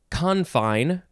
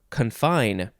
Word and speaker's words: confine: oddly specific next is confine or confine emphasis on either syllable first form noun from